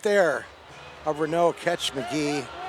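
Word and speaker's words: Magui: spelled ma GUI but it's pronounced Magee like an Irish guy I guess he must be big and st.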